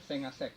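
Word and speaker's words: 5àsec: tulisannya 5 asek tapi mereka bacanya sengasek, hebat kan?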